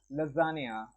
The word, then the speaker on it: lasagne: So this particular word LASAGNE is pronounced as lasagna।